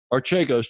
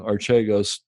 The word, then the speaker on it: Archegos: or bill wong h-w-a-n-g archegos just like it sound it's spelled just like it sounds a-r-c-h-e-g-o-s and there's a